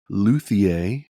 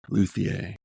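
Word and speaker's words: Luthier: saw a demo for the first time of luier by pavon games how' you spell that l u t h i e r luier okay so this is pavon games are the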